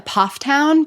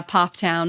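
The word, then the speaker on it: Pfafftown: How do you pronounce the name of your hometown? Uh Pofftown.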